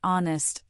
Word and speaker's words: honest: In words like our, honest, and air, the H is completely silent and we glide directly into the vowel sound.